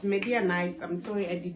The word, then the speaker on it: Midianites: Meaning that if they defeat the Midianites, yes, it's Midianites. I'm sorry, I did not know how to pronounce it.